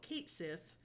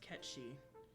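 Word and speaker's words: Cait Sith: Fantasy 7 character who most people will call Kate Sith but it's actually supposed to be pronounced catchy and apparently that's based off of the same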